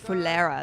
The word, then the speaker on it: Fulera: Ticket Oh, Fulera, that's how you say it. Pulera.